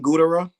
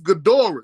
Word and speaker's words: Ghidorah: It's Ghidorah. It's King Ghidorah because it's named after the monster from King Kong. I mean, from Godzilla.